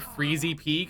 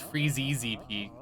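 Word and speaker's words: Freezeezy Peak: I I I called it freezy peak. I didn't realize it was freezey peak.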